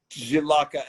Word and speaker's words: Žilavka: We grow it in the southern part of country, and it's called Žilavka. Žilavka. Yes. JJXL. No, it's It's No, no. Can't pronounce it. Žilavka.